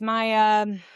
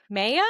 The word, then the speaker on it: Maia: Son of Jupiter, goddess um and the goddess Maia. Maya? Maya? I may not be saying it correctly. I've heard both.